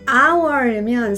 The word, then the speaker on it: hour: hour이면 생긴 거는 h로 시작하지만 불어의 영향을 받아서 h가 묵음이란 말이죠. 그럼 우리가 읽을 때는 hour 마치 h가 없는 것처럼 발음을 해요.